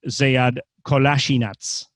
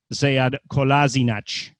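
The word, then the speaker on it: Kolašinac: interview he said that there really are two pronunciations because from the bosnian point of view it would be zead kolasinac in german sayad kolasinac slightly different but he said in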